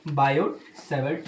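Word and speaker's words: Biot-Savart: ये जानने के लिए आगे अपन पढ़ेंगे बायोसेवर्ट लॉ। बायोसेवर्ट में जो टी है वो साइलेंट है।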